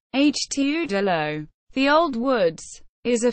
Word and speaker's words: Het Oude Loo: Dutch pronunciation. Het Oude Loo.